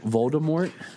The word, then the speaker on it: Voldemort: here's random fact that Voldemort in the original Harry Potter like books when she wrote it was supposed to be more along the line of a silent T like a French pronunciation but then the first